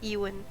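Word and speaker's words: Ewen: maker's name is Ewan. Ewan. E-W. Okay. Ewan, pronounced with a U, E-W-E-N.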